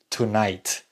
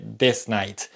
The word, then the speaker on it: tonight: de negocios esta noche Recuerden que esta noche se dice Tonight y no se dice Disney tonights flight vuelo para